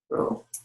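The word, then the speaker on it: rho: row as the symbol this Greek symbol row so write how to pronounce it R row and it's going to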